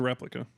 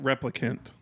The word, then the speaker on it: replicant: replica I don't applicant replicant I don't want him to correct you but I'm saying it I'm saying it wrong you said replica twice now and it makes me want to kill myself replicant Rebecca it's Rachel